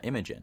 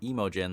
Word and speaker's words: Imogen: I apologize but uh Imogen every time I say her name now I'm like second guessing myself is that the correct way Imogen I know it's not emojin like I was saying